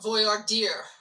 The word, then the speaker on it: voir dire: I got your pronunciation it's voyard deer like voyard deer okay like uh dear the headlights okay Voyer dear got